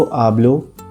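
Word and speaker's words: hablo: उदाहरण के लिए यो आब्लो हिंदी, इंग्लिश y एस्पान्योल। ध्यान रखें कि स्पेनिश में एच हमेशा साइलेंट होता है, इसलिए उसका उच्चारण नहीं करते।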